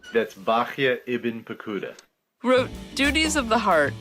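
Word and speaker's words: Bahya ibn Paquda: And Rabbi Baha ibn Pequada, That's Bachya ibn Pekuda.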